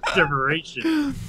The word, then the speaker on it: Derivation: opens up and says deration it's like inspiration diation right no it's not it's like saying inspiration with a d inspiration no that didn't